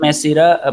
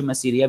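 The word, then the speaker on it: میسرہ: یہ میسیرا پڑھا جاتا ہے اصل میں نا، میسیرا، کچھ میسیریا بھی پڑھتے ہیں بالکل درست، لیکن میسیرا جو ہے نا صحیح لفظ ہے یہ.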